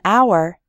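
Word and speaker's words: hour: in the word our the H is silent so we say an our we say a non-governmental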